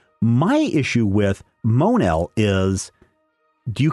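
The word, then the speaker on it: Mon-El: so we'll call you mon el somewhere there's a universe where his name is actually Thurs el I was really glad that they didn't call him mo Neil that would have been really bad Action Comics number 380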